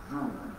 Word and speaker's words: ذو: بتكتب ذال وعليها ضمه وبعدها واو ماده، لكن بتنطق ازاي؟ واو المادة عند النطق محذوفة، عامل زي في الإنجليزي كده، يقول لك ليه الحرف ده سيلنت، سيلنت يعني إيه؟ يعني يكتب ولكنه لا ينطق.